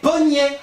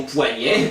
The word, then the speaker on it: poignet: mais encore deè indice poignet c'est longtemps prononcé pget le ne servait qu'à indiquer la prononciation vous comprenez et du coup contrairement à montagne plutôt que d'enlever le i nous avons préféré le prononcer d'ailleurs au début certains gramériens critiquaient la prononciation poignet puis finalement c'est elle qui a triomphé ah tant mieux